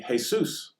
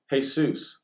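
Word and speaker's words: Jesús: name of the Lord would be hey Seuss now those are pronounced totally differently Jesus hey Seuss and think about it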